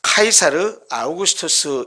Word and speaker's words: 카이사르 아우구스투스: 성경에는 가이사 아구스토라고 번역을 했는데 이것은 일반 세계 역사이나 사회에서는 카이사르 아우구스투스 이렇게 발음을 합니다.